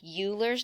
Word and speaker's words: Euler: I know it looks like Euler's number, but it's pronounced Euler's number after the person who discovered it, and that was Euler.